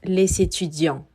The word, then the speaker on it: étudiants: Sin embargo, al ser un sustantivo en plural, estaremos omitiendo al final la S y decimos les étudiants.